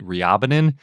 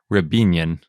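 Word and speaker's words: Riabinin: And I always need to remember, I always want to pronounce it Ryabinin, but I think it's pronounced Rebinian.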